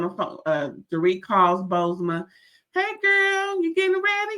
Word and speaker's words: Bozoma: you pronounce her name bosma you kind of forget the second o but you kind of say it bosma anyway so bosma tells